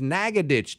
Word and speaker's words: Nacogdoches: oh thank God I happen to ask I said how do you pronounce this city is this Nacogdoches how do you say this no man is Naga ditch 2-1 you know you're